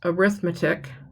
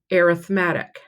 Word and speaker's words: arithmetic: The first one normally that word is pronounced arithmetic, but when we're talking in terms of sequence, it's called arithmetic.